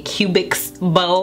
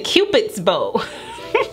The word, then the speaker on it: Cupid's bow: been letting me know i've been calling this a cubix bow it is a cubits how do you say this guy's name cupid it's a cupid's bow whoops on that one too